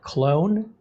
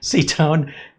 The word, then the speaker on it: Cetone: But there's also a company called Clone, or Cetone, I'm sorry, not Clone, Cetone, Napogi.